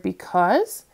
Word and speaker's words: because: you s e okay the a and the you are together but they're not they're not going to say the a sound because this is a